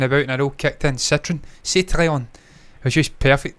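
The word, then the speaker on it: Citroën: Citroen, that's how you say Citroen, by the way. It's not Citroen, it's Citroen. See what I'm saying with the French, the way they pronounce words.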